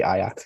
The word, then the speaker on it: Ajax: an a an a I always want to say I act because that's the that's how you were pronounce it in Dutch and that's the answer um yeah Ajax request and then the